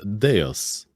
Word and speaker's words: Deus: as well it is it is Latin and it is Deus okay well there you